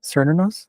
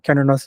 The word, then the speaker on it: Cernunnos: Cernunnos. Cernunnos is how they say it.